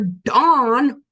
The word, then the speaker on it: Dan: There are no concordance results for dawn. No, we got to spell with an A, but it's pronounced Dawn should be spelled D A W N or D O N, not D A N.